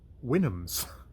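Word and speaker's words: Houyhnhnms: the wynnums which uh there's the how it's pronounced how it's said and then how it's theoretically pronounced winnums which i would have not known if i hadn't looked uh in the back of uh the oxford oxford uh edition that i have and it has has helpful notes and apparently that is pronounced winams uh which are the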